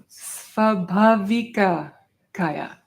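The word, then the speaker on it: svābhāvikakāya: Ki, ka, and then kaya. Ay, ay, ay. Svabhavika kaya. Svabhavika kaya.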